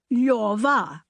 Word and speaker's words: Lyova: Position your tongue for an L, O. Then say yor, then say va, Lyova.